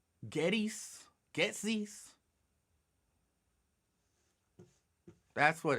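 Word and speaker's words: Goetze's: I can't pronounce the name. GOETZE''S. Getsy's.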